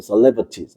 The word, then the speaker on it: celebrities: 디어 to 그다음 mar cebties 이거 발음이 셀ate 아닙니다. 발음 정확한 celebrities 알겠습니까?